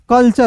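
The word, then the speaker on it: culture: टी यू आर ई अब मैंने बोला आपको कि किसी भी वर्ड्स के अंतिम में टी यू आर ई रहेगा तो उसे क्या पढ़ेंगे चर पढ़ेंगे तो यहां पे चर लगा दीजिएगा तो यहां पे देखिए तो सी यू एल टी यू आर ई कल्चर हो जाएगा समझ गए उसके बाद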